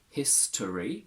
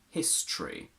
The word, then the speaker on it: history: the same process applies you can say history with the schwa or history without mystery or mystery literal or literal